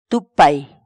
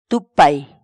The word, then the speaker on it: tupay: series videos where we teach you how to pronounce certain words in Quechua. So our word of the day for today is tupay. Tupay.